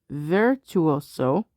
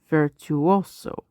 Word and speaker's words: virtuoso: phonetic pronunciation so interesting you can put the stress you could put it on virtuoso or you could put vertu also uh virtuoso late Latin